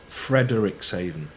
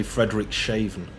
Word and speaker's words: Frederikshavn: I keep wanting to say Frederikshavn, but I don't care if Frederick is shaven or not. And I'm sure it's pronounced Frederikshavn. Ooh.